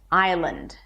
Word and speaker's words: Island: Of course, there is no S here. We begin with I as in I am. I and then Lund. Lund. Not land. Not land. Lund. It's an L sound. Awah and N D. Lund.